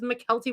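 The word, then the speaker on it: Mykelti: surrounding Forrest Gump and it was McKelty Williams. And then I would always get irritated when people would repronounce it as Michael T. Williams because that indicates that it's Michael T. Williams, but it's McKelty.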